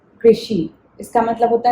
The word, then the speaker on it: कृषि: एक वर्ड है कृषि, कृषि। ओके, तो कैसे सुनाई दे रहा है? क्री एंड शी। तो फर्स्ट क्री एंड देन शी, सो कृषि, कृषि।